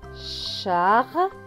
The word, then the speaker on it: Charlie: Charlie, le E à la fin est écrit en gris, donc il ne se prononce pas.